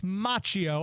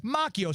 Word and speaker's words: Macchio: we all think of obviously the actor Ralph machio and I believe I read because one time